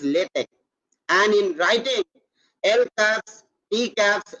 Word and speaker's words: LaTeX: so first what is latex is a document preparation system for producing high quality documents the current pronunciation is lit it is not latex or latex it is lithic and in writing healthcare